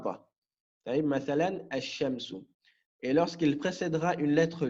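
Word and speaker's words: الشمس: Ici, le lem de l'article, on ne le prononcera pas. On dira mathalan ash-shamsu. Donc ici, je n'ai pas prononcé le lem. Je n'ai pas dit al-shamsu. J'ai dit ash-shamsu. Je suis passé au shin directement.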